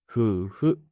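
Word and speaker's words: 夫婦: それで 2 をふの音に変えて、ふ、ふ、夫婦と読むんです。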